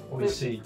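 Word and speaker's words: 美味しい: Oishi.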